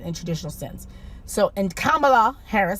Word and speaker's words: Kamala: So, and Kamala Harris, and I say Kamala, yeah. Kamala. It's not Kamala. I see people saying Kamala. It's Kamala, because her Indian mother, she